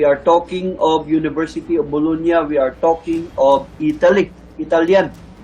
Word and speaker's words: Bologna: A professor of anatomy at the University of Bologna, that is pronounced correctly as Bologna in Italy, noted in his treatise ridges, spirals, and loops in fingerprints.